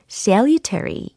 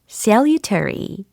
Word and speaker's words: salutary: 유익한 효과가 좋은이라는 표현이었는데 이게 발음이루터리가 아니고 salutary. Salutary, salutary 이렇게 하셔야 되겠습니다.